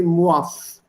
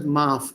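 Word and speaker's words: معاف: When you say gustaki and then maaf, it's the correct pronunciation will be muaf, which Hindi simply says maaf. Ah, it's actually not ah, it's muaf.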